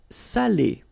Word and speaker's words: salé: So if you don't put the accent, it means dirty, and then you pronounce it sale. But in that case here, okay, you put the accent, and it's quite important because in that case it means salted, okay? Salé, okay?